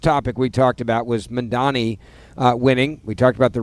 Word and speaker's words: Mamdani: So pronounce the guy's name who's about to be mayor of New York. Mamdani. Nope. So I got it wrong. Mamdani.